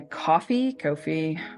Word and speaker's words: Ko-fi: You'll also find a link to my Ko-fi. One day I'll get the pronunciation. You'll have to tell us first. Right? I know it's supposed to be like coffee, but it doesn't read that way.